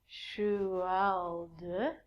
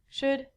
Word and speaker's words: should: All of these L's are silent. So it sounds like should, could, and the thing that we get from trees, would.